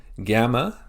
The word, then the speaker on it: gamma: Gamma makes the G sound like in ground.